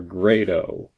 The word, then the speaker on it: Grado: least of which is how you're supposed to pronounce the name grotto or great oh well you'll notice I've been pronouncing it great oh and that's mainly because the way that John Grado pronounces it my name is John